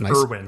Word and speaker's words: Erwin: Oh, with Erwin, right? Yeah. You pronounce it like Eren, so that could Erwin.